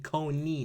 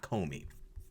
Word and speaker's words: Coney: Cony there we go I was saying it right the whole time Amy Cony not Comey Amy Cony Barrett is